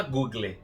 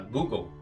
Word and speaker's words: Google: Você não fala Google, né? Você fala Google.